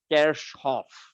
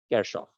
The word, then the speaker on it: Kirchhoff: conservation of energy right the actual german pronunciation for this name is kerschhoff now none of us